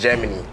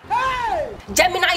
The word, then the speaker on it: Gemini: when were you born September 16th and it's Germany Gemini is the right pronunciation you don't even know how it is